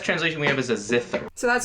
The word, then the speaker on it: zither: Best translation we have is a zither.